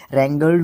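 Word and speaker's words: wrangle: हां जी भाई साहब डब्लू के बाद जब आर आता है तो डब्लू को प्रोनाउंस नहीं किया जाता है मतलब बोलने में नहीं आएगा डब्लू रंगल रंगल इसका थर्ड एंड सेकंड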